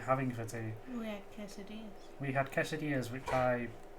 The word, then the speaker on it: quesadilla: kisses yeah yeah which is the american way yeah yeah americanized it butchered it i can't say it the mexican way quesadilla but it's not okay